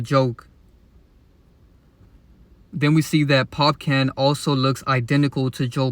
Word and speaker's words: Popcaan: it's very obvious that Ryan go Ling is popan or I believe his name is pronounced popcon but as you can see it's very obvious